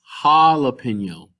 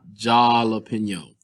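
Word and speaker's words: jalapeño: what does this spell notice that it's jalapeno not jalapeno so don't confuse your j pronunciation with the way that we pronounce them in english so if we see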